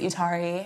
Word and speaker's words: Etari: But I was like, okay, I don't want to do exactly that, so how about I pronounce it Utari, and then I'm gonna just change the spelling a little bit, Etari.